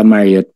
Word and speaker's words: Marriott: sa Ba't Marriott i-pronounce it? Hotel Gala o po. gala? Oh. Sa Marriott Hotel po, Marriott.